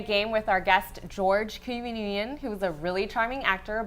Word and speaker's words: Nguyen: We're actually going to play a game with our guest George Nguyen, who's a really charming actor, but also a huge fan of Star Wars.